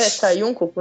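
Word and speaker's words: Saiunkoku: Sai um coco monogatari. Sai, é sai um coco, né? Que sai um coco, tudo junto.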